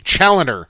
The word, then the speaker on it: Challoner: Challoner, Brad Challoner. The way Brad says it, he says it's Challenger without the G.